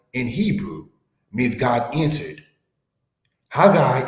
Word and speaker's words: Haggai: Haggai is pronounced as Hagi, which means my pilgrimage or my feast.